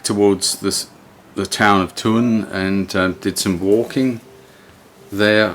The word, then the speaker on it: Thun: town town of tourne they pronounce it tun it's t-h-u-n not sun but and these river